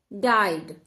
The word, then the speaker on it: died: हैं, 2 अल्फाबेट्स हैं, बट आपको क्या याद रखना है कि जब 2 वोवेल्स हैं बट हम लॉन्ग साउंड आई सीख रहे हैं तो आई का साउंड प्रोड्यूस होगा और ई साइलेंट हो जाएगा, ई का साउंड नहीं आएगा.